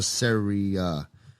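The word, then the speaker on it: Sarai: So basically, when it says, thy wife shall no more be called Sarah, it's spelled S-A-R-A-I. So it's either Sarah or Saria.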